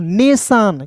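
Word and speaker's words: nation: clear है जी तो टी आई ओ एन को दोस्तों पढ़ेंगे सन तो क्या हो जाएगा दोस्तों नेशन क्लियर है नेशन मींस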